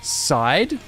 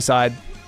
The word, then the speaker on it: Side: Also, by the way, I don't know if you saw, but the name is pronounced Side. Oh my god, I see. Sorry, Side.